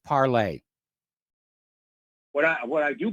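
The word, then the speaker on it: Parler: going on out there it's pronounced parlay which is french for speaking yeah and i know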